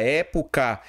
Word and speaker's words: época: Já a palavra época eu tenho o quê? Proparoxítona, porque é assim, ó, tenho três sílabas, sendo que a forte está aqui, ó, na antipenúltima.